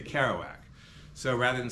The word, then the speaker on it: Kerouac: You don't say Kerouac when you speak in English. You say Kerouac.